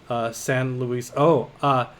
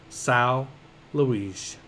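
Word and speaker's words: São Luís: Remember, I was having trouble pronouncing that city. The city. My Portuguese pronunciation is fairly good, but I got a clarification on it. Sao Luis.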